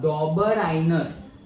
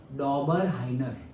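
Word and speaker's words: Döbereiner: एंड 1829 में the German scientist डॉबर इसका pronunciation ध्यान से सुन लो, डॉबर आइनर, क्या डॉबर आइनर। ओके, डॉबर और आई जब प्रोनाउंस करे तो थोड़ा एच भी आ जाता है, हाँ, डॉबर हाइनर, ऐसे हाइनर, आइनर ही है बट से समवॉट एच, डॉबर हाइनर।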